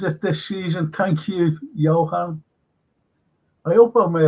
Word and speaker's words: Johan: It's like like a J, but it's not. I know it's not German because you know it's a silent J, isn't it? German, Johann, Johan, Johann.